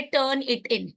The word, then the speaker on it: Turnitin: focus करर है ये एक सॉफ्टवेयर आता है टर्न इट इन ठीक है उसकी स्पेलिंग क्या है उसको हम बहुत मिस प्रोनाउंस